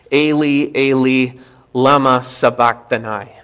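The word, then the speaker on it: Eli, Eli, lama sabachthani: they were originally spoken more properly it's probably pronounced Ailee Ailee lama sabachthani his words are recorded as spoken in Aramaic because this was the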